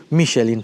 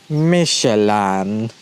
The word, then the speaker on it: Michelin: Michelin, I learned that this is how you pronounce Michelin now, here, listen here, Michelin, so from now on you will pronounce Michelin,